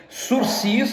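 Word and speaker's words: sursis: Suspensão condicional do processo se escreve surcis porque a origem é francesa, mas se se pronuncia surci, surci processual.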